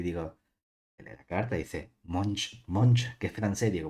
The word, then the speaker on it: Monge: Esto es francés. Es de las pocas palabras que aprendí cómo pronunciar en francés. Cartas de monge. Yo siempre decía de monje, hasta que en cuarto